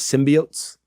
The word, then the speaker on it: symbiotes: I laughed yes so they don't say symbiosis and by Oates they actually changed it where it's correctly pronounced as symbiotes which was really funny